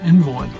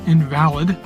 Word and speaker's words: invalid: said, "Ketty is an invalid." And I thought, well, that's not very nice. Well, I found out I was pronouncing it wrong. It was actually an invalid.